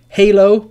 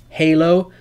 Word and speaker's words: Halo: Halo is one example. If you played the video game, Halo, L is pronounced.